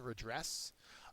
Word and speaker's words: redress: synonym is penalizing 18 redress uh redress does not mean to dress again uh it's a synonym sorry it's a verb and a noun uh the second syllable is accented it means to set